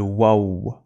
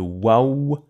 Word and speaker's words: و: C'est le waouh. Il fait le son ouah. Et il fait aussi ouh.